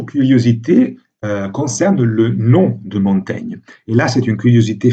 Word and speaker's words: Montaigne: sans le dis donc il devait effectivement prononcés montagne comme en principe pour n'aurait dû on devait prononcer montagne à l'époque de la vie de l'auteur ensuite on a réintroduit la graphie originale pour ainsi dire et non et on a adopté la prononciation moderne montaigne qui en principe ne correspond pas à la prononciation de l'époque voilà alors après ces